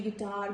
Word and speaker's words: guitar: Guilty, guitar, guest, guest and all these words, letter U is silent.